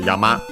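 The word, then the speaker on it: 山: foremost we have a Yama uh mountain. Yeah, you might see what uh why I said that then so mountain yama on its own is accent on the last syllable.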